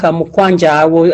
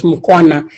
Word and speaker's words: Mukwanja: Thank you so much, Mukwanja. I had mispronounced. I thought it was Mukwana.